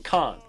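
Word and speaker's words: כן: in case you're wondering why he keeps saying Khan, that's how they pronounce the Hebrew term for yes. So that's where that's coming from. It sounded to me like, come on, because I've heard that one too. But now we know better.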